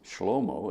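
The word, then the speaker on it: Shlomo: In Hebrew, it's Schlommo. It's not Solomon, but they confuse some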